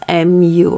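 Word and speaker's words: 木: hand we call muchi how do you say more like you call it moo you know like like uh the sound of the cow but this one is mu okay so mochi okay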